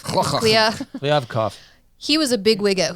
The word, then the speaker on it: Kliavkoff: Kliavkoff. Kliavkoff.